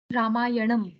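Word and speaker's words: रामायणम्: sandy this one baghini rama yanam very good see you he heard the pronunciation of the it is not na okay no there is a dot below so rama ya nam okay i wish bhagini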